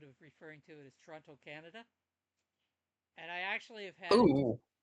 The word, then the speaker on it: Toronto: You can tell if somebody's from Toronto by the way they say Toronto instead of Toronto. A Tirana. I Yeah, love the way Tirana. I love the way they miss the last T.